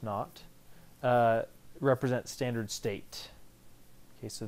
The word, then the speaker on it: naught: All right, so delta H naught, that little circle, pronounced naught, represents standard state.